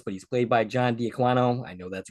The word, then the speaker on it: D'Aquino: pronunciation of this, but he's played by John D'Aquino. I know that's wrong. Brian, correct me. D'Aquino.